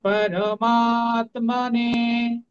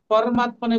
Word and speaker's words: পরমাত্মানে: তাহলে শ্রীমদ শ্রীমদ ভগবত গীতা এরকম আরেকটু উপরে আমি একটা জিনিস বলতে ভুলে গেছি শ্রী পরমাতমানে এই প এবং রটা কিন্তু পূর্ণ আমাদেরকে পূর্ণ উচ্চারণ করতে হবে পরমাতানে বললে হবে না পরমাতমানে যদি র নিচে হস